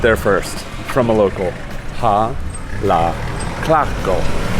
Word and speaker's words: Jalatlaco: de Jalatlaco. Jalatlaco. Jalatlaco. Así. Muchas gracias. All right, you heard it there first from a local. Jalatlaco.